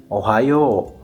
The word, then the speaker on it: Ohayo: In Kansai Ben, we say Ohayo. In common Japanese, we say arigato. In Kansai Ben, we say arigato. In common Japanese, we say ohayo gozaimasu.